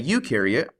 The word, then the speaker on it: eukaryote: when we look at a eukaryote you rhymes with do and they do have